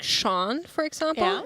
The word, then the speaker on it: Sean: that's one of the only names where it's only an S, but you say sh.